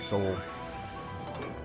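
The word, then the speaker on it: Sol: I got sa Soul it's pronounced like Soul like the soul system like sun I mean Sun yeah soul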